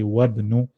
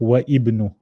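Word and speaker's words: وابن: So we'll go straight from the first to the third and we'll say wabnu instead of wa ibnu.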